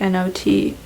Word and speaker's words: knot: not like i know i know it's spelt k and ot but it sounds the same as not like not so i think it's